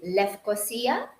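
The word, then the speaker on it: Lefkosia: it's very multinational culture the capital is Nicosia or the traditional Greek uh pronunciation would be left cosia it's part of the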